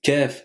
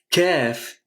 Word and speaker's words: ك: Ce qui est important de retenir, c'est que dans la prononciation du Kaf, il faut surtout pas le confondre avec le Qaf, qu'on a vu dans la vidéo précédente.